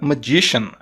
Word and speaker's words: magician: olha só que interessante esse finalzinho aqui não é pronunciado como com c e sim com som de sh então the magician the magan the magician